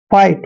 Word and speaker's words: fight: जैसे एक और वर्ड है FIGHT, एफ को हमने फे पढ़ना है और IGHT का उच्चारण क्या कर रहे हैं, आइट। आ की मात्रा और ई और टे। फाइट, फाइट मीन्स क्या होता है, झगड़ा।